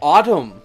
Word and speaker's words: autumn: buy something particularly to the Ottoman night sky autumn night sky shame you don't pronounce the end he's not autumn nights we